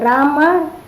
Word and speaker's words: Rama: hare krishna pronounced krishna and rama rhymes with dharma as sanskrit words hare is